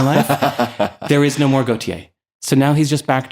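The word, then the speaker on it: Gotye: Oh, there's a great Gautier. Gautier. I think that's how they pronounce it.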